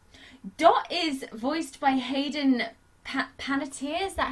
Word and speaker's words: Panettiere: Dot is voiced by Hayden Panettiere, is that how you say her name?